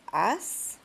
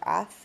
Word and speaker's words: haz: Hacer becomes as. Remember, the Z is not pronounced like it is in English. As or ath in Spain.